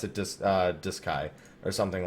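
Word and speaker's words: Duscae: They actually pronounce it Doo Sky. And I got a Was it D? I'm pretty sure he M Matt pronounced it dis uh Diskai or something like that.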